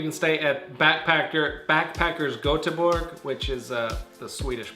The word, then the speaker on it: Göteborg: on couchsurfing you can stay at backpacker backpackers göteborg which is a swedish pronunciation of gothenburg GOTV bo RG and it's